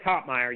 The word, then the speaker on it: Toppmeyer: What's the correct pronunciation? It's Toppmeyer. Usually people add the extra E or the L in there.